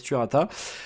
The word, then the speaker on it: Turata: Alors, on va le prononcer à on va le prononcer à la française Turata.